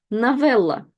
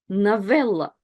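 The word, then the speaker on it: новелла: Novella. Novella. And again, unstressed O is read as A. Novella.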